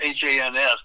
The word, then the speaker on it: Hans: It's H-A-N-S, but it rhymes with chance. Hans.